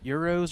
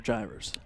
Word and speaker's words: gyros: Euros or gyros? Gyros. Okay. That's what it's called. That's the proper pronunciation, right? Any Greek would tell you that.